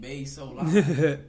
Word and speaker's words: Baysolive: I always thought it was Bays. I thought it was Baysolive. I just said it all together. You gotta say Bay_so_live.